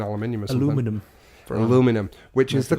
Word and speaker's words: aluminum: in like thin our minimus aluminum for an aluminum which is the correct way of pronouncing it yes the person who discovered it named it aluminium aluminium is wrong sorry English people we changed it sorry well